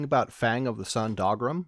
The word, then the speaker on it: Dougram: Probably we're talking about Fang of the Sun, Dogrim, which yes, is pronounced dog, not Doug.